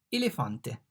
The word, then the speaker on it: elefante: E, elefante. In fact, the E is pronounced like elephant, elefante, elephant.